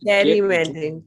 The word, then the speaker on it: gerrymandering: It's actually pronounced gerrymandering.